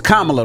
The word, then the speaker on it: Kamala: Used to having her name mispronounced. It's Kamala, though, guys. Kamala. I know you guys. It's Kamala. All right.